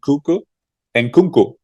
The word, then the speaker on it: Nkunku: Remember, they have the strikers and Nkunku.